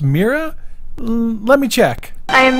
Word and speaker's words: Mera: great job but uh I'm pretty sure it's pronounced mea let me check I am mirror miror miror miror miror miror miror miror miror miror